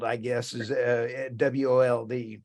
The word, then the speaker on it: Wold: It's Wald, I guess, is WOLD. So how do you say that back east? Wold. Okay. Like wool, but tea.